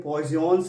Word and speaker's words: Poisson: एक टर्म है जिसका नाम है पायसन रेशियो। एक्चुअली इसका नाम है पॉइजन्स रेशियो। हम इसे अलग अलग तरीके से प्रोनाउंसिएशन करते हैं। कुछ लोग पॉइजन्स रेशियो, कुछ लोग पायसन रेशियो, हिंदी में इसको पायसन अनुपात के नाम से जानते हैं।